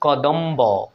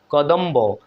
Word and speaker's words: কদম্ব: এখানে দেখুন কদম্ব, কদম্ব, এখানেও ব ফলা উচ্চারিত হচ্ছে।